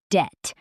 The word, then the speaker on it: debt: Debt. The B is silent, right?